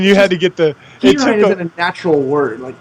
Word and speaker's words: Perine: Samaje Perine. Perine.